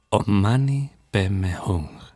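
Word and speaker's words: om mani padme hum: resucitar de inmediato un mantra como on mani pmum que los tibetanos pronuncian omani pem hung el mantra del Buda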